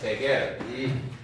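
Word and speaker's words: Seger: 지거라는 회사에서 제겔, SEGR, 지거 또는 독일 발음으로 제겔 이에서 개발된 거기에서 시작된 이 콘이에요.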